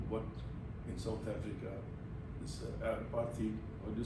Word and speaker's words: apartheid: You know slavery, you know what in South Africa, this apartheid, or do you spell the apartheid, apartheid, how do you pronounce it? Apartheid. Apartheid, okay. You know some of those things, you're aware of those.